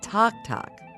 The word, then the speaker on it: tac-tac: What is talk? Talk, which is spelled TAC-TAC, is Cajun for popcorn. That's because of the tock sound popcorn makes when it pops.